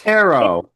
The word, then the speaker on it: tarot: Now you got Eddie pronouncing it wrong. What did I Tarot. It's It's- tarot.